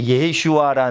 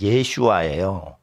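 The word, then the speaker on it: ישועה: 마의 나의 예수시라 근데 예슈아 발음은 어 그리스로 예수스 예수라는 그리스어 발음의 히브리 발음이 예슈아요 그니까 예슈아 이러면은 여호수아도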